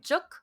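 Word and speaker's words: 粥: juk, which is how it's pronounced in Cantonese, which is a rice porridge.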